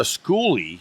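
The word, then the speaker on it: Skoolie: um I know what a school is a schoolie schoolie which is spelled ES k o o l i e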